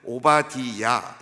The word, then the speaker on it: 오바디야: 그래서 이제 오바디야, 이것이 이제 정확한 발음입니다.